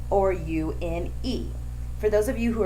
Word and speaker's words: une: UN is pronounced un. UNE is pronounced une.